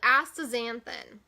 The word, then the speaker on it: astaxanthin: So it also contains another ingredient called astaxanthin. I pronounced it right.